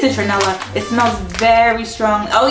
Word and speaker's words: citronella: Smells very strongly of, is it citronella? Is that how you say it? I know in New York we have a supermarket called Citarella. That's not how you say it, right? Those are two different things.